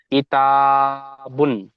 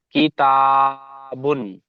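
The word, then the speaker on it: كِتَابٌ: জি, উচ্চারণটা হবে কিতাবুন, হাকিমুন। বা- ইজরা, এই বানানটা করে এবার। কাবজের কি, তা, আলিফ জবর তা, কিতা, কিতা, বা দুই পেশ টান বুন। দিয়ে বলেন। হ্যাঁ, কিতা, বা দু পেশ বুন, কিতাবুন।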